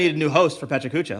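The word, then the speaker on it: PechaKucha: I say Pechacucha because it feels good to me. It's Pechacucha. Yes.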